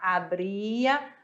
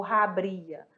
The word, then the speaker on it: abría: Kiko outro detalhe galera o h vamos lembrar que ele não tem som em espanhol ele é mudo então ficar abria a Ria tá bom não ficaria ou rabria ficar com som neutro abria e abria certinho eu trouxe para vocês